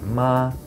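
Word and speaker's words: 妈: But if you say the first tone, the high flat tone, ma, that means mother. Okay. If you say the second tone, which is a rising tone, ma, that is hemp.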